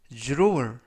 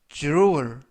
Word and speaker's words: drawer: 이번 표현은 drawer, drawer, drawer 이라고 발음하시면 되겠고요. 이때 유의하실 점은 dr 발음이 주르, 주르, 그래서 주르얼 이라고 발음하시면 되겠습니다.